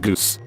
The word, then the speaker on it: Gus: His nickname was Gus, pronounced Goose, and he was first in my English 1 class.